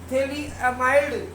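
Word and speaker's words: phthalimide: अपन बोलेंगे इसको बोलेंगे थली एमाइड इसको बोलेंगे थली एमाइड प साइलेंट होता है तो इस प्रकार से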